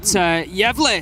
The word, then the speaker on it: Gävle: It's spelled Gavle, and I was like, so Gävle or Gävle or something, right? And Bikini was like, no, it's like Gävle. saying yeah and then bleh afterwards. It's like Gävle, and I